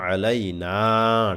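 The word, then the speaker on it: عَلَيْنَا: খুবই সহজে দেখুন আসসালামু আলাইনা টান হবে শেষে এই নাতে আমরা অনেকে টান দেই না এই যে নুনের পরে জবরের পরে খালি আলিফ আছে এই টানটা আমরা অনেকে দিতে চায় না এই যে আইনটা উচ্চারণ করবেন এখানে আসসালামু আলাইনা আসসালামু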